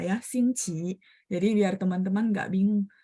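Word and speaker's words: 星期: Tapi memang tepatnya kayak kita bilang ejaan yang benarnya itu adalah nada 1. Dan kayak Beijing dan Zhongguo Dalu, Dou Nian Di Yi Sheng ya, semuanya baca nada 1. Xingqi.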